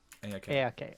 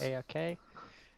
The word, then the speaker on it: Edeah: How do we pronounce it? E-A-A-E-K? Sorry? Oh, Edeah. Edeah. Okay, Yes. Edeah.